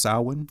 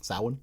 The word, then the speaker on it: Samhain: Pronounced Samhain. Samhain.